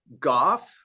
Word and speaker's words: Gough: but the last name is actually pronounced Gooff, like like cough with a G.